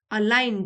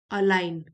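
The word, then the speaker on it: align: अलाइन जी silent है इसमें। अलाइन।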